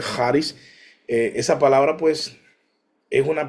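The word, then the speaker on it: χάρις: palabra carisma, charis, se escribe charis, pero se pronuncia charis.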